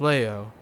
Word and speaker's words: Leo: It's written with the kanji for lion, and to be sure, but it's pronounced Leo.